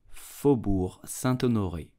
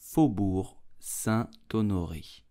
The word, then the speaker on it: Faubourg Saint-Honoré: famous street in paris you will say fobur santo nori fobur sa tonori fubor santo nori